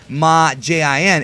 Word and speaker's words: Majin: is demon Genie but the way the Japanese pronounce it is ma Jin it's like sain ma Jin and ma means